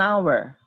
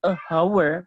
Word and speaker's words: hour: An hour, bukan bukan a hour seperti itu ya.